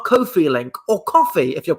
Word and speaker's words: Ko-fi: the screen here that's how cool feeling or coffee if you're pronouncing it correctly on there you can donate